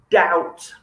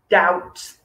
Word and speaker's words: doubt: silent is the word doubt doubt okay you pronounce the t at the end but you do not pronounce the b imagine how difficult it